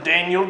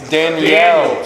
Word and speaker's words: Danielle: Another wet fart from Daniel. That's not how you say my name. That's how I like to see it. It's Danielle. Oh, it's Danielle.